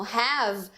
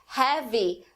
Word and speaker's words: have: Então, uma palavra como have acaba se tornando heavy no falar brasileiro.